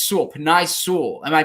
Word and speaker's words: Penei Sewell: Is it Penei Sewell? Yeah, I think that's right. like the pasta.